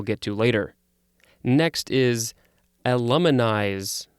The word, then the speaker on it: aluminize: Next is aluminize. Again, I want to say illuminize, but it's not showing me that it's pronounced with an oo sound.